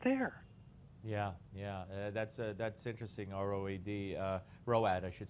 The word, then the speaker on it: ROAD: But look, in the military, back when I was an enlisted man in the 70s, there was an acronym, ROAD, which we pronounced ROAD, and it meant retired on active duty.